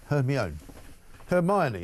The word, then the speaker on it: Hermione: Hermione, how do you say it? Hermione, there you go.